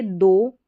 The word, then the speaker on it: though: गूथा हुआ आटा उसको बोलते हैं डो, और एक दूसरा है THOUGH दो, इसको बोलेंगे हालांकि।